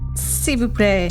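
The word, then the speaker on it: s'il vous plaît: How how is this pronounced in French? Ceu play.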